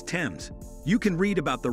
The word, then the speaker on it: Thames: The H is thus a learned error added in a mistaken belief that the Thames was derived from Greek. The spelling remained, but the pronunciation did not change. Therefore, the right way to say it is Tems.